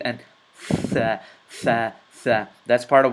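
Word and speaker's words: ث: And this is part of warm-up number 3, the letter thaa, and how to pronounce it, and how to stick your tongue out between your teeth, and thaa, thaa, thaa.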